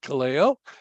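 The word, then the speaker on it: καλέω: alongside a truth to illustrate that truth and Kaleo which is pronounced as I just said it Kaleo it means literally called or to be called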